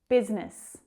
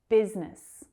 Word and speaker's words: business: Business. Just 2 syllables there. Business.